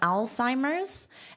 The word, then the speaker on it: Alzheimer's: So, this is an Al Al Si Mers. And there's an apostrophe S because you can say Alzheimer's disease, but most of the time you don't need to say disease. A lot of the time natives will just drop it. But, you still include the S in pronunciation and the apostrophe as in spelling.